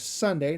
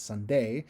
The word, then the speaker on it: Sunday: So the word is Sunday, not Sunday. So I'm not, instead of emphasizing the D in day, I'm going to put more emphasis on the S in sun.